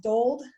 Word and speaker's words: Dold: because we have is your last name pronounced doled yep i forgot to ask